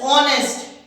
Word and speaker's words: honest: honest man over here h is silent the sound of it's not there we started honest so the sound is of a vowel oh honest it is not honest it is wrong it is honest oh so the sound